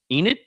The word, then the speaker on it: Enid: Enid? Yes. Did I get it right? Me. All right. Enid.